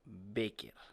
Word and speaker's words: Bécquer: 17 de febrero, el nacimiento del poeta romántico Gustavo Adolfo Bécquer. Si no me equivoco, Bueno, está bien pronunciado, Bécquer.